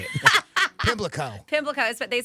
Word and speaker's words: Pimlico: being the luckiest time of day, Plimlico, what is it called? Race? Is that how you say it? Oh, geez, now I can't say it. Pimlico. Pimlico.